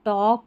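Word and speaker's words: talk: जैसे इसको वालक टॉलक या चौलक या स्टॉलक नहीं बोलते। वॉक, टॉक, चौक और स्टॉक।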